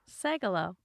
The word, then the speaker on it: Sagal: say my name correctly sagelow yeah that was close that was close no you got right segalo yeah that's it now it's now it's it now it's it did